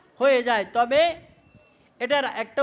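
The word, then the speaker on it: ت: এবং নুক্তাগুলি কোথায় উপরে এটার উচ্চারণ কি হবে তা এটাও পাতলা উচ্চারণ হবে এটার উচ্চারণে কি হবে পাতলা হবে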